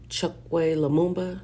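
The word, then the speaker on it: Chokwe Lumumba: Um, Chuck Leumba, that's how you say it.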